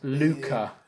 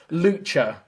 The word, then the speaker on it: lucha: Luca. Luca mask. Luca. You've made me say it wrong because I'm mimicking what you said. Lucha. Like luchadors.